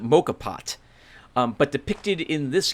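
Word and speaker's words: moka pot: not to use a i think he pronounced i think you pronounce it mocha pot um but depicted in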